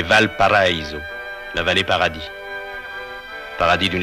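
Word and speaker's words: Valparaíso: ce que l'on prononce affreusement à la française valpariso c'est valpariso la vallée paradis paradis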